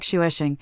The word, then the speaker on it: Xavier: I named it Xavier, pronounced like shuesing.